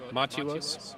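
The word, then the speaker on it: Mathewos: Maatou Maatou Wos. Maatou How do you spell it? It's like Matthew, but with WOS.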